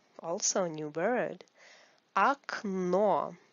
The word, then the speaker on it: Окно: Окно. Also a new word. Окно. This О is like А because it is not stressed. Окно. The stress is on the second О.